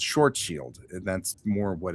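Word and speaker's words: Schwarzschild: Because I've always said things like Schwarzild Radius because his name is Schwarzchild. That's the way it looks. Except that he pronounces it in German which ends up sounding more like Schwarz shield, right?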